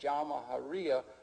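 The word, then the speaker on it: Jamahiriya: You'll hear Colonel Gaddafi talk about the Jamahariya, pronounced Jamahariya, which roughly translates, an Arabic term, which roughly translates out the state of the masses.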